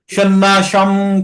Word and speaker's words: সন্ন্যাসং: এখানে যতগুলো অনুস্বার আছে সব অনুস্বারগুলোর উচ্চারণ আধা ম হবে। তাই আমরা কি পড়বো? সন্ন্যাসম কর্মণম কৃষ্ণ পুনর্যোগম চ সংশোষি।